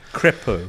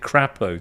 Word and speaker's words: Crépeau: Maxime Pancakes Maxime Crépeau. should probably have done slightly better with. You actually pronounced it Crappo, Tom. Mhm, that was definitely a Crépeau. a mistake. Crépeau.